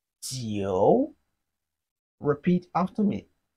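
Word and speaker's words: 九: the flat tone but nine in Chinese is pronounced as Geo repeat after me Geo Geo it has a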